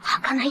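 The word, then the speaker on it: 儚い: 人の夢って書いて、儚いって読むんだよな。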